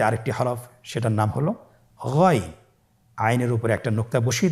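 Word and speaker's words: غين: এভাবে উচ্চারণ করা যাবে না, যেহেতু হরফটি মোটা, এই জন্য মোটা করে উচ্চারণ করতে হবে গইন।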